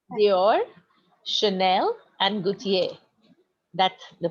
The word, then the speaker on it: Gaultier: And for It's Dior, Chanel, and Gaultier. That's the pronunciations, okay?